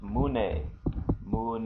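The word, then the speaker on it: 胸: to look at the chest the chest is pronounced mun mun and the coni for that looks like this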